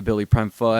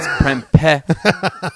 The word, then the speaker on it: Prempeh: I want to publicly apologize for calling you BillyPrempeh. Everybody's Prempeh. For everybody out there, that's how you pronounce it.